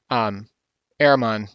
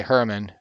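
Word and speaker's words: Herrmann: Like, I'm going to create a video at some point on how to create Walter Ehrman, or I say Herman, depending on how you want to pronounce it.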